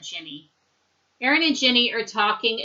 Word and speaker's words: Ginny: Aaron and Ginny, you can also pronounce it Guinea, but most people would call that Ginny.